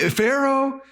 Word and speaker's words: Pharaoh: with a name that starts with a P but it sounds like an f and it and it and it rhymes with uh marrow or tarot uh maybe Pharaoh nothing like that and